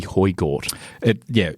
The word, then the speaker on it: Højgaard: That would be Højgaard. Højgaard.